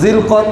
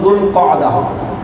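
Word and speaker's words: ذو القعدة: যদি জি কদা বলেন তাও কিছুটা আরবি গ্রামাটিক্যাল হিসাবে মিলে, কিন্তু জিলকদ কোনোভাবেই মিলে না। কোত্থেকে আসছে, কিভাবে আসছে আল্লাহ ভালো জানে। যাক, মূল উচ্চারণ সঠিক হলো যুলকআদা বা জিলকআদা।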